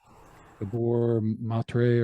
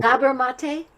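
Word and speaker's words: Gabor Maté: I'm going to say it wrong. Gabor Matre, or whatever his name is that, he's a doctor, but he just wrote a book. Gabor Mate? Yeah. Yeah, Gabor Mate. Yeah, Dr. Gabor Mate.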